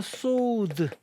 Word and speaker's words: sword: 이거 발음 조심하셔야 돼요 w가 있으니까 스워드 이렇게 발음하시면 안 됩니다 스워드 w는 발음이 안 돼요 그래서 소드 소드라고 발음을 하셔야지 칼이